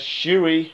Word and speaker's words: Shuri: zuri that's his name there's shuri you know that's pronounced and s-h-u-r-i and zoory that forest whitaker character it was pronounced zed u r i you know he he